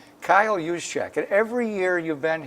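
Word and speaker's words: Juszczyk: was the Baltimore Ravens fullback how do you pronounce that guy's name Kyle yusek and every year you've been here he's made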